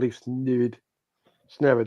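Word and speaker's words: Leif Smerud: Crystal Palace already have a new manager called Leaf Snerid is how you pronounce it properly, but it just sounds like the villain in a Disney Club cartoon.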